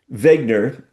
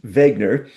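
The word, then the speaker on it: Wegener: geologist named uh Alfred Vegner uh his name spelled with a W but it's German so I assume it's pronounced Vegner.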